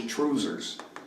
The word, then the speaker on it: trousers: instead of a kilt the Scottish pronunciation of the word trousers is truesers so he will sing it as truesers tonight and you're going to